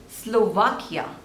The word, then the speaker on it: Slovakia: is Seychelles Seychelles Seychelles so there are two labels and the stress is on the second one say shells facials facials